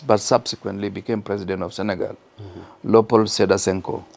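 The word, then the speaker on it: Sénégal: from North Africa Africa a country that you people call Sagle but we call it Sagal in the language that they like using because the pronunciation is French MH and uh the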